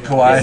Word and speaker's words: kawaii: word that starts with kawa and ends with e. Kawaii. It's the word that rhymes with the 50th state, right?